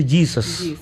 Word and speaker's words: Jesus: de Jesús, porque Jesús, que en inglés se escribe igual, pero se pronuncia Jesus.